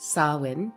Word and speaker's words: Samhain: The Celtic Festival day Samhain, which is a Gaelic word pronounced Samhain, marks the Celtic New Year and translates to summer's end, or the end of summer.